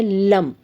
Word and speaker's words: लं: है 396 मंत्र है लम लम इस तरीके से करके आपको इस ल का प्रोनाउंस करना है इस लं को खींचना है जब आप इस